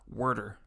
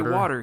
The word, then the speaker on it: water: You do have to pronounce it how he pronounces it though. Worder. He didn't say water. He says worder.